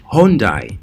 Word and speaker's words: Hyundai: you this wonderful korean vehicle this is hyundai hyundai yes for you who do not know how to pronounce this of course the logo looks very